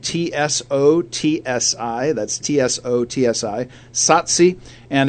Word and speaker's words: Tsotsi: The name of this movie is Tsotsi, which is spelled T-S-O-T-S-I.